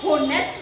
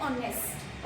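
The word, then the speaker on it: honest: अगर आप इसको हम होनेस्ट नहीं बोलते, इसको हम बोलते हैं ऑनेस्ट, ओके।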